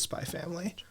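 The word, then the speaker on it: Spy × Family: There's a X in between the Spy and Family, but you just pronounce it as Spy Family.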